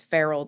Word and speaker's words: Ferule: of branded myself as feral designs and it's pronounced feral kind of like the cat because I work primarily